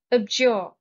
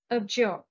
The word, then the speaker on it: abjure: Abjure. Stress is on the second syllable. Abjure.